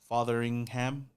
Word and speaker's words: Fotheringham: And then you got Cole Fotheringham. That's how you say his name. Fotheringham, I guess so. But I feel like the tight end room is solid as well. Fotheringham or Feringham?